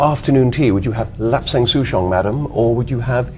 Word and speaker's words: Lapsang Souchong: Yes, I was wondering about Lapsang Souchong tea. I think I'm pronouncing it correctly. You have pronounced it perfectly.